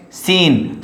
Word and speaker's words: scene: Now next, scene. So here is C is hidden or silent.